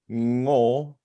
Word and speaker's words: Ngo: So to anybody listening, our last name is pronounced as one syllable, Ngo, like gnocchi.